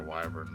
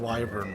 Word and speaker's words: wyvern: I'm saying wyvern weird because that's how it's pronounced in this game. I understand that it's wyvern, but they like wyvern.